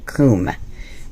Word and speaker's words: Kum: i've heard it pronounced so many ways it's kum it's pronounced coomb okay i just get a giggle out of